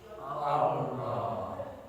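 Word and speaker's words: الله: Allah. Jadi ketika Allah, lidahnya nyentuh Allah, Allah tebal. Jadi yang bergerak, yang mengucapkan apa? Lidah, bukan bibir ya. Bukan Allah, bukan. Lidah. Allah. Ucap ya, diucapkan tebal ya.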